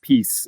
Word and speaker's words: PiS: party that you say PIS or peace is how the acronym is usually pronounced in Poland. It's prao is praos which is law and justice as you said. Um so the peace party which came back into power.